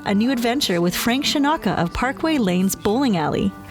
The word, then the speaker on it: Scinocca: and interviewing it's frank shanaka that is the italian pronunciation so right here is